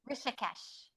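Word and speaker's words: Rishikesh: Rishesh.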